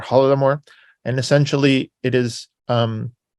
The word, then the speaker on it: Holodomor: The Holodomor is a Ukrainian pronunciation of Golodomor or Holodomor, and essentially it is a famine.